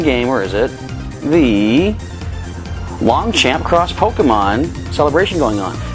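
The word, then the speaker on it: Longchamp: i'm an uncultured swine it's probably pronounced longsham i believe it is a to go with a parish paris fashion week that is probably pronounced french-wise i'm assuming long chomp but i like the sound of long champ sounds like a really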